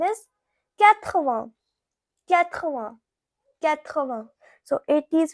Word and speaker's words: quatre-vingts: Now 80, it is pronounced as quatre-vingts.